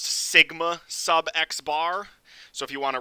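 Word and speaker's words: σx̄: Same thing, it's pronounced sigma sub x bar.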